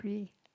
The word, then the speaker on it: Parki: I'm Parki. Paraki, yeah. How you park a car, lock it with the key, Parki.